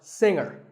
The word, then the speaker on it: singer: is silent now we say finger we say the G younger again with the G but singer no G and what would you